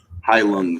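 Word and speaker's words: Heilung: High Lung is how you say it.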